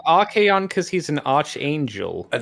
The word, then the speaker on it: Archaon: because you wouldn't know, given the CH, you could pronounce it as Archaon. Yeah, it's an unusual one, but that hard k sound, you'd think it'd be a K, maybe. Archaon.